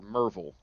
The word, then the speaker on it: Maryville: small college called maryville maryville uh to pronounce it how it reads but around here people either call it maryville or merville so anyway maryville college